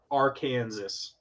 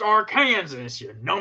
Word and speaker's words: Arkansas: houston okay awesome next we have cincinnati at our kansas it's it's pronounced arkansas they clearly they clearly know something we don't